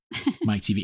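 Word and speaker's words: Teavee: the book to realize his last name wasn't just like a joke Mike TV like TV it's spelled out it's spelled out yeah t e a v e e it is a joke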